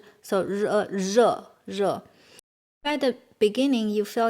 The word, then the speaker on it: 热: This R with it pronounced like, this R is like so 热. At the beginning, you feel you cannot pronounce that clear. And even you say 热 and 热 and 热, it's not a big